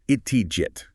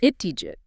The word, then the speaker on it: ItthiJit: It's ItthiJit, with the stress on the jit. ItthiJit.